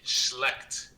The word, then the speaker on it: schlecht: worse because she's like teaching herself the bad pronunciation. Okay, stop. You're getting close to the danger first. So. Say it with me. Schlecht.